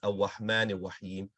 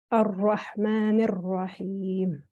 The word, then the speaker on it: الرحمن الرحيم: That ra, it seems to be pronounced as a wow. It says Ar-Rahman Ar-Rahim. Ra, ra. Ar-Rahman Ar-Rahim.